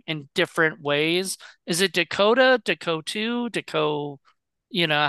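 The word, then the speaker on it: DeCoteau: said his name in different ways is it Dakota you know how do you say David's name uh it depends he would say Dakota Dakota okay uh but he goes by David Dakota that's fine okay he's not he's not a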